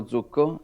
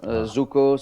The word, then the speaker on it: Zucco: here with Bitcoin maximalist gomo Zuko am I pronouncing that right jakomo jakomo Zuko Zuko sounds a little bit like the scam corer